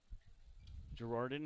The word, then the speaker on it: Gerarden: Girardin, you never guess how it's spelled. It's Gerarden.